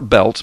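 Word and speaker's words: Biltz: Blood Moons by Mark belts b i l TZ but you pronounce it belt um he uh he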